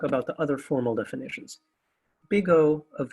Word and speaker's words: big O: are both positive functions so bottom line it's pronounced big o and there's only an upper bound omega so